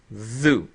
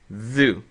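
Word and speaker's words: ذُ: And these are all pronounced like this. Dhu. Dhu.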